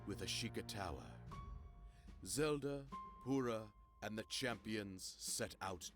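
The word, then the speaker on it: Purah: Yeah, I've pronounced it as Pura as well, but it's Pura.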